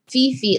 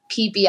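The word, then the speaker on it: Phi Phi: shutter island yes yep it's spelled fifi like p h i phi but it's called peepee island um and you have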